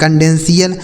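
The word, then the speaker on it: confidential: आगे लिखा CONDENTIAL, तो CON से हो गया आपका कन, DEN से हो गया डेन, और TIAL का उच्चारण क्या हो जाता है CL, लिखा है कंडेंशियल। यानी TIAL किसी भी शब्द में लिखा रहता है तो उसे आपको CL पढ़ना है, जैसे celestial, पोटेंशियल, essential, impartial, रेजिडेंशियल, क्रेडेंशियल, कंडेंशियल।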